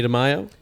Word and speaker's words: Damaio: doing today i got on the guy demaio yep that's it that's how you pronounce it right yeah it's actually a portuguese